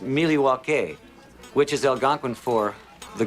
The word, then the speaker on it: Milwaukee: Actually, it's pronounced Milywake, which is Elgangquin for the good land.